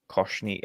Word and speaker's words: Koshny: I pronounced it Koshny last week, and he said that was right. So Koshny.